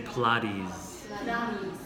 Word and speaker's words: Pilates: Pilates or Protestant yeah in English it doesn't sound the way it looks but we say Pilates body is aging you're talking about your best time is 4 to 6 p.m.